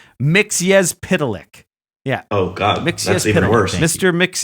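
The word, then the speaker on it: Mxyzptlk: oh here's here's how I just looked up how to pronounce it mix yes pitolic yeah oh God Mr mix yes pitolic yeah okay lick lick yeah mix yes pitolic it's a comic book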